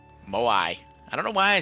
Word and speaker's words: Moai: Maui. Moai.